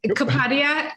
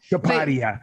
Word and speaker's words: Kapadia: You're close. Kapadia. Kapadia. Kapadia.